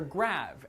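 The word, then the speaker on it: grave: well the answer is grade or rather grav as it would have been pronounced in the original French you see the grav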